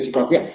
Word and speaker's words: psicología: siglos no puede aparecer una s en psicología Pero bueno nadie pronuncia psicología no todo el mundo dice psicología Aunque de las dos